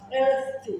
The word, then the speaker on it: healthy: Tienes que morder la lengua. Si no, no te sale. Healthy.